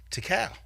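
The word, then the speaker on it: Tical: 1994 Method Man released his debut solo album to Cal there I said it right that time Tycoon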